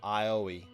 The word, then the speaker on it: Aoi: Yeah, that's how it's pronounced, Aoi. You gotta remember, Japanese names, it doesn't matter what the context is, you never change, or Ioi. I think it's Aoi, or something like that. But like, you never change, no matter what the context, you never change the pronunciation of a vowel in Japanese names.